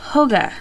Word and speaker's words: hygge: in the Danish collection of hygiene pronounced or hoga sorry it's all about embracing